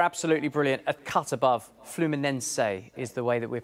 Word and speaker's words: Fluminense: and they were absolutely brilliant A Cut Above fluminense is the way that we're pronouncing it here at SK sports news Neil